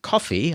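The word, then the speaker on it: Ko-fi: my services up on coffee I think that's how you pronounce it it's c o dash if I and Linkedin I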